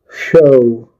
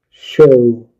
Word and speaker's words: show: Show O. Show. The W is a silent letter.